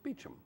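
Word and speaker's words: Beauchamp: an anglicized word in England if your name is spelled b a u c h m p it's it's it's it's beachum right so back to your Heroes of the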